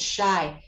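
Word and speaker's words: Scheu: what's her name jenny shy but she spells her last name well she goes by her maiden name which is jenny potter but it's s-c-h-e-u s-c-h-e-u and she pronounces it shy she has a website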